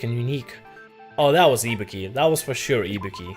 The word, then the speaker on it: Ibuki: I'm pretty sure it's supposed to be Ibuki. Like emphasis on the on the E, the on the I on the letter I. The first letter I, ibuki, not ibuki, but whatever.